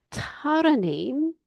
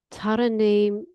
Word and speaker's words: Tarraingím: Tarraingím ar an gclár bán (The ‘g’ in Tarraingím is silent) Tarraingím le peann, peann marcóra.